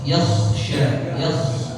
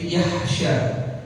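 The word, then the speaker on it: يخشى: Jadi ditahanya s du tya yaitu ada yaksya huruf k ya jangan nanti di apa diganti jadi yahsya jadi pakai ganti pakai apa ha yahsya yaksya gitu ya terus la itu huruf apa?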